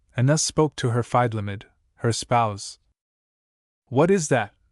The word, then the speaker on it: Feidlimid: FN number 39, pronounced Feidlimid.